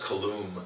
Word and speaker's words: Kalum: By the way, I think it's pronounced Chris Kalum. Kalum?